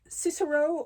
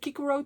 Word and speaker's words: Cicero: Um, it is the um the Cicero or the Kikuro trilogy uh depending on how you uh pronounce Latin uh wherever you live.